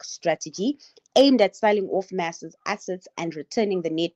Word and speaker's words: MAS: So you pronounce it as mass just mass.